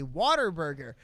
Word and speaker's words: Whataburger: So that is, so he was pronouncing it the Texan way, Waterburger. Weird, because it is spelled basically like Whataburger.